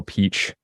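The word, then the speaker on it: Pietsch: this great editor Michael Peach uh not spelled Peach but that's how it's pronounced um cutting cutting cutting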